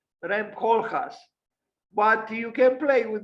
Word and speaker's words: Koolhaas: And I think she said something like Koolhaas, not Koolhaas, like in English, Cool, because this is not in English, it's in Dutch, like Koolhaas, Rem Koolhaas.